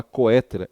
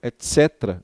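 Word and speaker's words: et cetera: Bem, a palavra etc, né, vem do latim etc, não se fala coetera, etc, é assim que se pronuncia em latim, significa e demais coisas.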